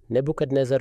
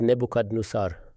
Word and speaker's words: Nebuchadnezzar: Nebuchadnezzar attacked, who is called Nebuchadnezzar. Both the pronunciations are correct.